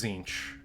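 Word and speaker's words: Tzeentch: on the left no that's zinch spelled with spelled spelled with a t apostrophe Zed and where exactly does that go it's silent okay is it the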